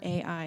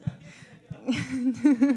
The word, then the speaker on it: Ai: from AI and or AI if you're Matt, but I don't think that's how you're supposed to pronounce it. No, I think it's I um and so um then they went into battle.